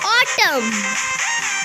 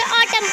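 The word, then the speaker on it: autumn: Rule, N is silent after M. ऑटम, हम इसे ऑटम नहीं पढ़ेंगे, हम इसे ऑटम पढ़ेंगे।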